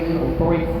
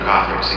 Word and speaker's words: Kothorix: It's your dragon overlord Kothorix again, here to tell you another fun It's pronounced Kothorix, idiot.